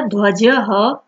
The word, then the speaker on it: ध्वजः: ये जो पीछे विसर्ग का जो सिंबल लगा है, चिन्ह है, उसका आपको प्रोनाउंसिएशन करना है एज ह. भारतस्य ध्वजः त्रिवर्णः अस्ति.